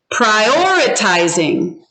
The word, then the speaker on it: prioritizing: Prioritizing. Prioritizing. Which syllable is it on? 1, 2, 3. Prioritizing. So hold up your fingers. I see Edie saying 2.